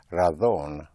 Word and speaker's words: razón: The word for reason, spelled R-A-Z or Z-O-N, in Castilian Spanish will be pronounced razón, otherwise razón. So it's a very, very slight pronunciation difference.